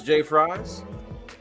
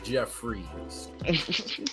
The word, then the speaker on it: Jeffries: to pronounce this stuff it's jeffries jfr yz which is i can understand why you would think that's jay fries but it's live it's jeffrey's jefferson freeze danny freeze jeff